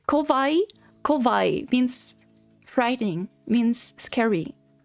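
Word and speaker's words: 怖い: cute but there is another adjective in Japanese which is kovai with o kovai not kavai but kovai and that means frightening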